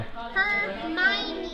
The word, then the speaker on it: Hermione: Hermione. No, that's not sound how it's spelled.